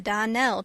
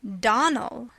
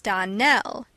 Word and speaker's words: Donnell: morning connected with the Donell children Clarice almyra told me that you pronounced our name Donal now miss shely the correct pronunciation of our name is Donell Accent on the last syllable I hope you remember